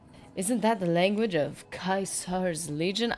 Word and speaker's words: Caesar: Isn't that the language of Caesar's Legion? I know it's Caesar's. Everybody's pronouncing it Kaiser, and it's confusing.